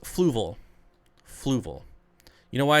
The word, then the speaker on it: Fluval: accent yeah who cares it's fluval every one of every person i've ever heard pronounce it except canadians it's fluval not fluval fluval i've never heard